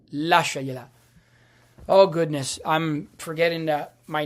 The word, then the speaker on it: lasciagliela: It's pronounced lasciagliela.